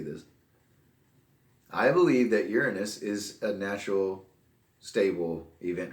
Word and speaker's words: Uranus: been sending probes to Uranus. It's Uranus or Uranus. It's not Uranus. I don't know why people pronounce it like that.